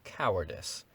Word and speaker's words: cowardice: should be shot for cowardice which he pronounced in military manner to rhyme with mice in short he was